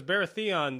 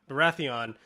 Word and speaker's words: Baratheon: interesting because now because baratheon that's the king baratheon what baratheon nah well it's not you're emphasizing the wrong syllables varathia the accent is on